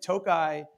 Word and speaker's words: Tokaj: And by the way, I got to ask you, I think I did mispronounce it for the first 6 months. Until someone told me, they're like, it's Tokaj.